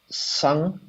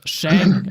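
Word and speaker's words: 笙: And I just didn't know how to pronounce it. Like, I didn't know it was sung. I was like, sung. I would always say like shang or something.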